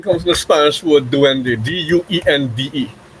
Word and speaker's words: duende: So in Spanish, this is how we spell the word D-U-E-N-D-E, and it's pronounced duende.